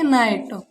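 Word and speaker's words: knight: Silent है। इसे पढ़ेंगे नाइट, no, knife, knowledge, knock.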